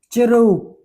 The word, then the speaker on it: ជ្រូក: As in word chru. J, chừng rô, chro. Chro u, chru nâng có, chru. Chru is a pig.